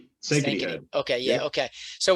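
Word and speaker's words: Sankaty: So I think when I heard that you guys were, at, correct me if I'm wrong, Sankati, is that how it's pronounced? Sankity Head.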